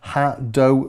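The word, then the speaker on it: HADOU: We've got a ha-do reverb, I think that's how you say it, H-A-D-O-U, and that adds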